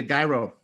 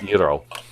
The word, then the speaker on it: gyro: After trying to get a gyro. No, that's a duck call. It's pronounced gyro.